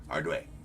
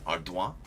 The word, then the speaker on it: Ardoin: Because that's how Baseball Reference has it as phonetically spelled. Ardway. But, I mean, I feel like you throw a little French accent on there. I feel like it's French. And way because it becomes wa. So it's Ardoin.